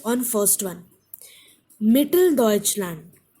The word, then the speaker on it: Mitteldeutschland: Mitteldeutschland, Mitteldeutschland. Four syllables, stress is on me, Mitteldeutschland.